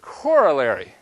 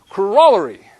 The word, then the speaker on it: corollary: Now, if we were teaching this class in the US, we would pronounce this word corollary. And that's because we don't know how to speak English. If we were teaching this class over in England, then we would be pronouncing the word correctly, and we would be saying corollary.